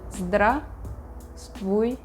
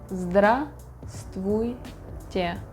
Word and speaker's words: Здравствуйте: We don't pronounce all the letters in the word. We say "Здравствуйте". Здравствуйте. Здравствуйте.